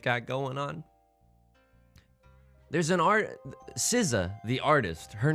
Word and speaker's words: SZA: Anyway, it's pronounced SZA, but she doesn't, this is, I hate to